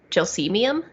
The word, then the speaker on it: gelsemium: did um but apparently it's not calcium it's gelcemium which sounds fake yeah